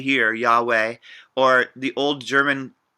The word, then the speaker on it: Yahweh: allah it sounds like we often say here yahweh or the old german mispronunciation would be jehovah because of the pronunciation of the consonants differently